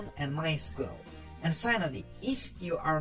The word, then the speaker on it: MySQL: As you can tell, I've been calling it MySQL. That is the correct pronunciation. However, it is also commonly called MySQL. If you hear it called that, don't be confused. It's the same thing. So what is MySQL?